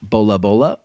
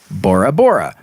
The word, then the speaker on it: Bora Bora: of the Tahitian language this could also be pronounced bola bola or Bora Bora when explorer Jacob Roggeveen